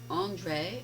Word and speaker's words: Andrej: We are here with Andre. Do we pronounce the J? No, it's just Andre.